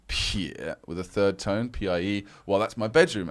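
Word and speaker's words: piě: And then pie with a third tone, P-I-E. Well, that's my bedroom. And pie, P-I-E, is pronounced like piede in foot in Italian and pie in Spanish.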